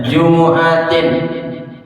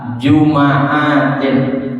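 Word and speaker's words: جمعة: Jim mimi faihakuniha ya jumuatin dengan baca domah jimnya dan juga mim jumu jumua ya atau dibaca dengan fathah jumaatin mimnya dibaca fathah jumaatin atau juga dibaca dengan sukun Jum Atin jadi ada tiga cara bacanya Min giririudrin Siapa orang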